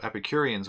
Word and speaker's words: Epicurean: So Epicureans would try to strive for the most enjoyment possible.